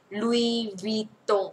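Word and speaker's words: Louis Vuitton: ตัว ว เหมือน เวี่ยง เสียง ไป ว ตง ลุว ตง โอ ไม่ ซื้อ ะ ไม่ ซื้อ ไม่ ใช่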